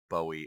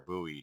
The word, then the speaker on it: Bowie: This is the Cold Steel Frontier Bowie or Buoy, depending on how you want to pronounce that.